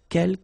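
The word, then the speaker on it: quelques: second one uh K you don't pronounce the final s here Kel means few okay and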